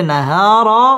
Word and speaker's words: النهار: করে পড়তে হবে ওয়াজআলনান নাহা মধ্যে তাবাই একালিফ টেনে পড়তে হবে নাহারা র পুর হবে মা মধ্যে তাবাই একালিফ